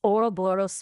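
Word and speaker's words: Ouroboros: though the oo boros oh close it's Oro boros with a it's a snaky little word with a powerful bite don't you think yeah but how do you spell it right sorry I forgot I was supposed to be teaching you not testing you oroboros remember it this way Ro sounds a bit like a pirates lament for his lost treasure yeah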